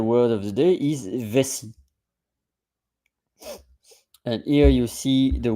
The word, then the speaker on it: vessie: of the day is vessie and here you see the word in French V SS i e and you don't pronounce the E because it's a silent E and ESS means that